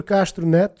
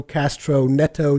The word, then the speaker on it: Castro Neto: Jack margetson Pedro castronet he's actually Brazilian I I that's what the reason why his name sounds so different is because I actually say his name in Portuguese otherwise I would say Pedro Castro Neto this wouldn't really make a lot of sense but yeah uh bartek